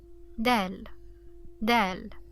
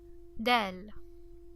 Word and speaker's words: د: upper teeth okay so Del maybe you can notice the difference it's not really like the English D it's there is no saturation while pronouncing it so it's dry Del Dell Dell okay da how